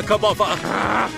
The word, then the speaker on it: Kirbopher: Perhaps things were fated to be this way, Squire Kirbopher.